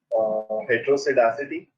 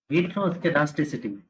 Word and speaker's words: heteroskedasticity: Try to pronounce it. Yes. Call it out loud. Heterosidacity.